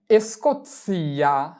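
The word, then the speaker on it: Scozia: এরপরে এসকোৎসিয়া এসকোৎসিয়া এসকোৎসিয়া মানে স্কাউটল্যান্ড।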